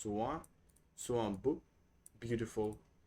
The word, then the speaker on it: soit: So we don't pronounce this hint, but just soit.